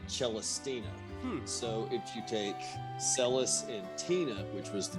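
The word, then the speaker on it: Celes: and it completely debunks my pronunciation as a child of of c l s being seals and I was always like oh seals seals is such a great character but it's celus or even chis that that's cool okay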